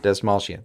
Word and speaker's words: Dastmalchian: Dastmalchian.